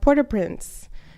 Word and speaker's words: Port-au-Prince: was also born in port-au-prince which where that's where my mom was born so or or my mom said not to pronounce the T so I guess it's supposed to be poor poor Oh posts I was